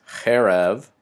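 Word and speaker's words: חֶרֶב: means sword and again note that both Derek and hair of have those Segel valves and that's the accents on the first Segel or the beginning of the word also have the plural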